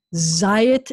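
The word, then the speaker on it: זית: But the other pattern where the accent is going to be on the first syllable is if you see in these two vowels specifically with the yud in the middle, an ayeh pattern. So like yayin is wine. And zayit is an olive, and bayit is house.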